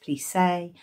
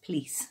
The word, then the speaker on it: plissé: I checked out the pronunciation of this, and a US website would suggest plissé and a UK website says plisse, so I'll call it plisse.